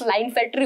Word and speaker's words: Klinefelter: Then क्लाइनफेल्टर, ये से pronounce लाइनफेल्टर होता है, के साइलेंट है, लाइनफेल्टर सिंड्रोम।